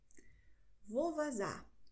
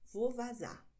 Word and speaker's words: vou vazar: Vovazá, so ausgesprochen. Vovazá.